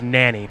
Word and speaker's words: Nani: Let everybody know the correct pronunciation. My name is Nani.